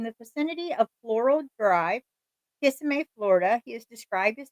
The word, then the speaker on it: Kissimmee: Is it Kissimmee or Kissimmee, Florida? How do I pronounce that, Mom?